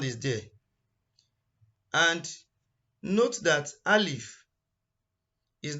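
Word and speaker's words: ألف: And the first letter is Alif. If you want to pronounce the name in full, it is called Alfon. And the sound for Alif is A. Most of the sound of the letter are in the name.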